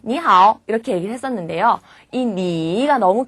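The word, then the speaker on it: 你好: 중요한 규칙이 무슨 말이냐면 3성 + 3성은 2성 + 3성이 된다는 거예요 예를 들면 우리가 배웠던 니 How 있죠 짧게 말할 때 니 How 이렇게 얘기를 했었는데요이 니가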